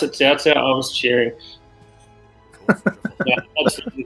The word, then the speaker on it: Cao Cao: First time they pronounced it Cao Cao, I was cheering.